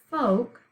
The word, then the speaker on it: folk: syllables folk one okay this is a two-way word we read it and say it differently than how we would spell it okay so we say it folk but we're going to